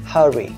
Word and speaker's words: hurry: phát âm, đó là hurry, trọng âm rơi âm số 1, hurry, có nghĩa là vội vã, cái này là gấp, hurry.